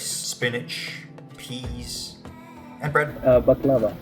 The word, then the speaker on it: baklava: Uh baklava. Baklava? Yeah. Oh, so it's not baklava. We've all been saying it wrong.